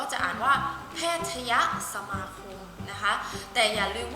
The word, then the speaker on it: แพทยสมาคม: ตัด ธนาคาร ออก เรา ก็ จะ อ่าน ว่า แพทยสมาคม นะ คะ แต่ อย่า ลืม ว่า คำ ที่